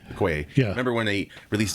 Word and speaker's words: Okoye: I don't need to see Okoye.